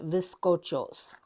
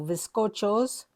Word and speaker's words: bizcochos: is a cookie called bizcochos. And even though I pronounce it with a V, it is with a B. It is spelled with a B. So bizcochos, and they, so it's the only time I purchased this.